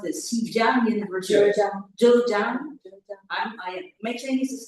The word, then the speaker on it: Zhejiang: Kumada Nauku, lecturer at the School of International Studies at, how do you pronounce this? Zhejiang University. Zhejiang.